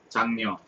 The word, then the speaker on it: 장녀: 장녀.